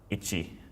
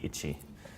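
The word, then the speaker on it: 一: Ichi. That's Ichi. All right, in hiragana, Ichi.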